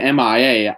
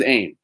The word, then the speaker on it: AIM: have aim soldiers uh i said mia i got really scared it said mia i was like wait am i saying it wrong this whole time no it is aim uh they have aim